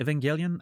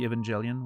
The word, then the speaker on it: Evangelion: hard G or no, it's a hard G because my natural way of saying it would be Evangelian with like a soft G and I know I'm wrong.